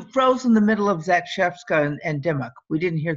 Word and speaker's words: Zakrzewska: Yes, that's how you pronounce that name that looks like Zakrzewska.